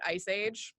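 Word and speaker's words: EaaSI: The acronym does not look this way, but we pronounce it Ice Age.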